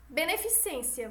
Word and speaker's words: beneficência: a gente vai ter inserção de sons no meio da palavra exemplo* beneficência o certo é o que* beneficência Tá certo vamos lá